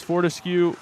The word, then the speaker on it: Fortescue: I believe it's Fortescue. Fortescue. Ethan says Fortescue.